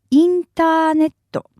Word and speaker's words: インターネット: But if you need to be absolutely sure, you could add the word インターネット, which is how we pronounce the internet. インターネット.